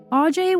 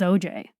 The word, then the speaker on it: Aujay: AJ was hard to read. In fact, there's even confusion over the pronunciation of his last name. His family says OJ, but to his friends, it was AJ, and he never corrected